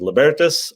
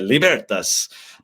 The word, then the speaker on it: Libertas: He's like, well, there's kind of two schools of thought, or kind of, it depends. And it was Libertas, or you think like in Italian, right? Libertas. Like right. You kind of got that angle, and then you got the American hick, Libertas Institute.